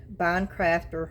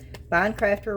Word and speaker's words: Bondcraftor: if you're interested in winning this, just put Boncrafter resin. Bon crafter resin in the comments and you'll be entered. Of course, you have to subscribe and you have to like the video, but then bond crafter.